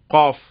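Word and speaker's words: ق: காஃப். இது டைரக்டா ஆங்கிலத்துல Q அப்படிங்கிற எழுத்துக்கு ஈக்குவலா இருக்கும். தமிழ்ல இதுக்கு ஈக்குவல் லெட்டர் கிடையாது. காவை தான் பயன்படுத்த முடியும்.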